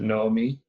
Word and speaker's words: Naomi: You still pronounce it Naomi? Yeah.